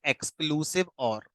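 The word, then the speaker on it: XOR: हमारा bit wise एजोर एजोर को हम लोग प्रोनाउंस करते हैं एक्सक्लूसिव और लिखते एक्सर ही है बट इसको प्रोनाउंस करते हैं एक्सक्लूसिव और और इसका जो सिंबल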